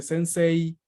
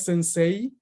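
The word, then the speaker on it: 先生: final pronunciar esa y por ejemplo la palabra sense es común que se pronuncie sensei y está mal está mal y si alguna vez creyeron que estaba bien les les reveló este secreto está mal hay que pronunciar una y larga ok no es sensei es sense lo mismo con la palabra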